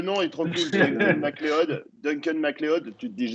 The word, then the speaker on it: MacLeod: Mais par contre, en français, on le prononce vraiment mal parce que c'est pas MacLeod. En anglais, c'est Loud, MacLeod.